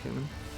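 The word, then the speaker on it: Caiman: Yeah, it's pronounced Cayman.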